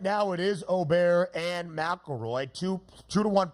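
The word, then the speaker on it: Åberg: aberer and I think many have learned that it's at least o ber we got to figure out the pronunciation Oar himself says Oar but some people still stick with oberg yeah my Donnie right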